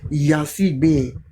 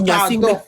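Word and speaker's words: Gnassingbé: sortie de l'aéroport de Yansibé à Lomé. Faut bien prononcer notre aéroport, hein. Faut pas manquer de respect à notre... On dit Nyansingbe.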